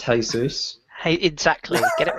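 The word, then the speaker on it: Jesús: jesus wept and I think you'll find it's pronounced hay-soos hey exactly get it right chase that it's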